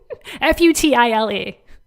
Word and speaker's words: futile: battle is futile futile i never knew how to pronounce that word f-u-t-i-l-e not feudal as in like feudal lords but futile that battle is not